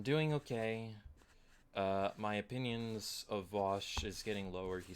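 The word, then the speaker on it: Vaush: I believe it's pronounced, the correct way to pronounce it is Vosh, because I did watch one of his videos, and when he spoke and said it himself, he's pronounced it Vosh.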